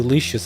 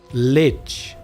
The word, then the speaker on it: lich: I'm not quite sure how old you leashes are. Give me a second, guys. Now I am kind of curious to know. What the hell? Lich. Ah, that's how you pronounce it. Lich.